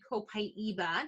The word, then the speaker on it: copaiba: and my entire family we use copaiba also pronunciated copaiba depending on where in the world you are and my choice brand